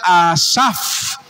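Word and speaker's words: אסף: es un vocablo a y se pronuncia asaf parecido al que escribe salmos asaf y significa esto juntar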